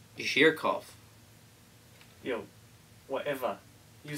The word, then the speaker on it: Zhurkov: uh J J oh jerk off and we is chatting about something that is well important yo big got yourself respect well sir my name is actually pronounced Mr H jirov yo whatever you says